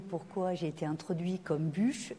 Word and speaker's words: Buch: été introduit comme bûche mais il se trouve que bûche et mon nom jusqu'en 2001 et quand je suis passé en Suisse c'est devenu parce que c'est trop compliqué de justifier pourquoi je prononce mon nom bûche donc bûche et bouc c'est la même personne voilà ça c'est fait